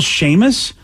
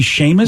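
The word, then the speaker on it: Seamus: a person you see how they spell Sheamus it's s-e-a-m-u-s and I would never get that to be Sheamus was a wrestling fan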